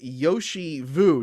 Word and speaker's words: Yoshi Vu: Uh and today we have Yoshi Vu. Did I pronounce that right?